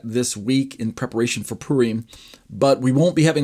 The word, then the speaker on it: Purim: Next week will be the weekend of Purim, or Purim is how some people say it. Purim, P-U-R-I-M, however you pronounce that. I say Purim.